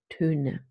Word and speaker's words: Töne: And then there is the umlaut that goes with it, and it's represented by the sound Töne.